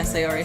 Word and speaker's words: Sayori: Yeah, Sayori. Sayori.